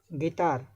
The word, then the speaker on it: guitar: Guitar, U is silent.